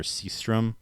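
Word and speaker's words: Sjöström: uh he had the his name was anglicized it's victor seastrom but in swedish it's like victor yostrom or something like that is you know in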